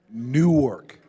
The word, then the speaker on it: Newark: could you say it Newark one more time Newark can everybody say it together nework okay newk let's go we we we getting there all